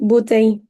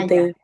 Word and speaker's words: bouteille: mismo, botella, También bouteille. Ahí como que no como que te la comes. Como que terminas en la I. ya. Bouteille. Ahora, tú puedes Ujú, decir ya. bouteille, pero es como cuando